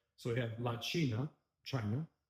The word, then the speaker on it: China: So, for example, and you pronounce this, it's like ch, pretty much like it is in English. Okay, so we have la China, China, right?